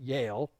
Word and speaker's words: Jael: Sisera fled away on foot to the tent of Jael, or if you want to say it right, Yale. Okay, it sounds like Yale University.